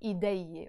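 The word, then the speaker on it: إيديي: But for sure, when I add the e in the end, which is the possessive ending, I don't say ideye, ideye, or something like that. No, I pronounce it ideye, always.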